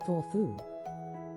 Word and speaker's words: Thorthu: It's called a Thorfu, pronounced Thorfu.